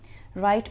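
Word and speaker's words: write: के बारे में लिखें राइट में डब्लू साइलेंट है द बर्ड्स आर फ्लाइंग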